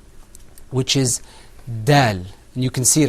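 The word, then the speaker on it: دال: Okay, now let's move on to the next letter, which is dal. And you can see it on your screen. Say that, repeat after me. Dal.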